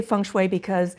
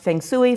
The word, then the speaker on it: feng shui: and by the way i say function that's the mandarin pronunciation it can be pronounced Fang Tsui fun SOI Fon schooi it just depends upon the dialect so you really can't